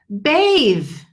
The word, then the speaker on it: bathe: bath or a bathtub the th is not vibrating but to bathe as verb the th